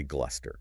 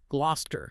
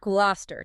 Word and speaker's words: Gloucester: It looks formidable. It just it invites you to say gluster. It does. It has four written vowel clusters. It's practically begging you to mispronounce it. So what's the reality? The reality is far more compact. The correct pronunciation is simply glouester. Gloucester. Gloucester. Two syllables.